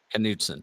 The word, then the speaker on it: Knutson: there's just one letter difference how do you pronounce your last name knutson knutson okay yeah all right um theirs has a